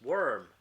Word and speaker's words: worm: same thing with this one right this is pronounced worm and warm is pronounced warm with a oh